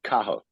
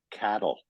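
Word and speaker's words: Cathal: pronounced it's spelled c-a-t-h-a-l you don't pronounce the T and it's pronounced Kaho when I came to Canada the kids at school were calling me cattle because they they were told not to pronounce they say they pronounced it cattle and I came home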